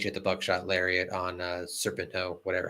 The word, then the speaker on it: Serpentico: And then Page hit the buckshot lariat on Serpento, whatever how you pronounce this name. I can't pronounce his name. You hit it. You've done it right every time. Serpentico.